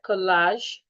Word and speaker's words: collage: When you spell the word collage, there's just one letter A that we have there. Collage. So it's the letter A that makes the long R sound.